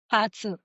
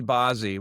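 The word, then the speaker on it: 八字: Batsu. Okay. Batsu. People will say Bazi when they see it, but Batsu is is the is sort of the correct Chinese way of pronouncing it.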